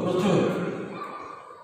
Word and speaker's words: প্রচুর: 8 নম্বরে শব্দের শুরুতে রফলা যুক্ত অয়ের উচ্চারণ সংযুক্ত হবে, অর্থাৎ ওয়ের মতো হবে। যেমন প্রচুর উচ্চারণ হবে পয়রাপালা ও চয়রস্য রচুর, প্রচুর। এগুলো 8 নম্বর লাস্ট নাম্বারটা দিয়ে আমরা শেষ করব।